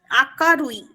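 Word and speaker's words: 明るい: আকারুই।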